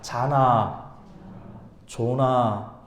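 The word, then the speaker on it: זנה: 자나, 조나.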